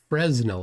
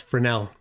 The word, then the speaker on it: Fresnel: Yeah, it's Fresnel. You don't pronounce the S.